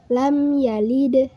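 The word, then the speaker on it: لَمْ يَلِدْ: Lam yalid. Yalid hukumnya qalqalah sugro. Disebut qalqalah sugro karena ada huruf qalqalah yang matinya asli. Terdapat di tengah kalimat huruf qalqalahnya itu dal sukun. Membacanya jangan terlalu mantul.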